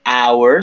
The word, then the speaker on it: hour: si se dan cuenta la h en su mayoría tiene sonido verdad como la de house como la de hamburger sí y hay ocasiones pues que no no tiene son muy poquitas pero ya poco a poco irán ustedes descubriendo al actuar por ejemplo está the hour suena como la letra de